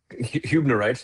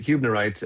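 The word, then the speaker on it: hübnerite: Uh, you know, Hunerite is how it's pronounced, Kyle. That one tripped me up a few times as well. So, so, uh, I can see how that happened. But, it's Hubnerite.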